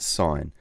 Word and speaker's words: sin: them the first one it's written sin but we pronounce it sine sine of our angle